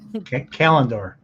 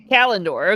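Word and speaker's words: Callandor: How do you pronounce the sword? I'm going to now I'm very self-conscious. Kalindor. Kalindor.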